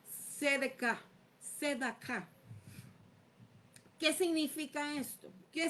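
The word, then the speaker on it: צדק: En hebreo, la palabra significa sedec o sedek s e d a k a con acento, pero se pronuncia sedek.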